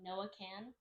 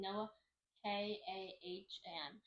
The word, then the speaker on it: Noah Kahan: His name's like Noah Can. Noah Can. Okay. I don't think that's how you pronounce it. Noah Kahan.